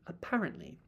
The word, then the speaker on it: apparently: So, think of the R not as the end of the um syllable but the beginning of the next one. Apparently.